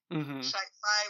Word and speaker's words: sci-fi: Sci-fi was coined to rhyme with wifi in the 50s really and it's too cutesy.